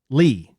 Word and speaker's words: Leigh: Lee. Is it Emma Lee or Leigh? L E I G H is Lee.